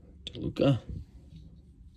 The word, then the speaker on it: DeLuca: Betts, Seager, got the rookie on the shortstop, Jose Rodriguez, Juan Soto, oh, got the Topps All-Star rookie, Diaz, next rookie, Johnny DeLuca.